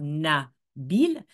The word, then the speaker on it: Nabil: première syllabe du mot Nabil donc il a deux syllabes nabile la première syllabe veut